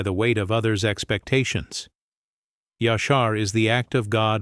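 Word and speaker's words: ישר: Pronounce it with me in a low voice. Yashar.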